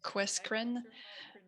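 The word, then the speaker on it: QUESCREN: On le prononce Questcreen.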